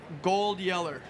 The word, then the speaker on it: GoldYeller: GoldYeller. Gold Yeller. Yeller. Okay. It rhymes with Old Yeller and it starts with a G.